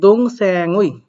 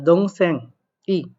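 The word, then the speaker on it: 동생의: 2 নম্বরে আসেন, বলছে দং স্যাং উই বা দং স্যাং ই, এই দং স্যাং উই বা দং স্যাং ই দুইটাই উচ্চারণ সঠিক, আপনাদেরকে শিখাইছি উই এর উচ্চারণটা শেষে গিয়ে সবগুলো করলেই সঠিক হবে।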